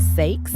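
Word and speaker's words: Saix: the title is called sakes which I think is just like a fancy way to say sex is spelled s a IX um and aside from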